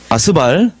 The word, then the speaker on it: 스발: 이 발음 조심하셔야 됩니다, 이거. 메사에서 스발.